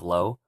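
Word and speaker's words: Lauj: hear him say and so low is is spelled l a u j but you might notice that he's not saying he he's he or she is saying low as if it's just an O uh you'll hear that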